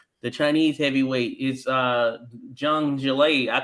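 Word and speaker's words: Zhang Zhilei: i've been calling him zang i know i would have gotten it right when i made the video autumn but yeah so it's not a z you're pronouncing it you're not pronouncing me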